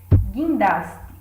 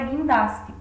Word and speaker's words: guindaste: E o mesmo ocorre na palavra guindaste, onde esse gui é formado pelo, no caso, combinação do G e do I, mas não da letra U. Ela não é pronunciada.